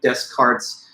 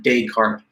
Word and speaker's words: Descartes: and stuff, but basically these would be soft S's, not like Descartes, but Descartes.